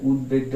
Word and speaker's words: উদ্বেগ: ফলার উচ্চারণ বহাল থাকবে বফলার উচ্চারণ বহাল থাকবে মানে সেখানে ব ফলা উচ্চারিত হবে যদি আমরা এটার উদাহরণ দেখি তাহলে আমরা দেখব যে উদ্বেগ উদ্বেগ বলি না যে আমাদের উদ্বেগ উৎকণ্ঠ মানে চিন্তা বা এরকম বুঝায় উদ্বেগ তাহলে উদ্বেগটা উচ্চারণ হবে উদ্বেগ সুপ্রিয় শিক্ষার্থীরা তোমরা বাংলা